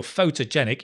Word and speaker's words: photogenic: terrible in photos photogenic and because the stress is on the jet genic it's a faux to genic photogenic there's a secondary stress on the foe at the start so it's not thur it's faux photo nick photogenic photogenic photogenic i'm